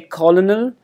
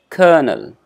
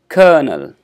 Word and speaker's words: colonel: is little difficult because we do not go by the spelling of this particular word we do not say colonel so when you get